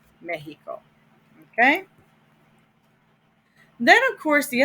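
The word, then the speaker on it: México: which are mexico mexico accent on the e the x is pronounced like a j mexico okay then of course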